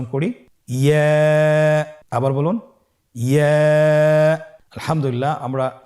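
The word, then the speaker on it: ياء: পরবর্তী হরফটির নাম ইয়া। পরবর্তী হরফটির নাম কি? ইয়া। ইয়া হরফটি উচ্চারণের ক্ষেত্রে বারিক হবে এবং 1 আলিফ টেনে পড়তে হবে।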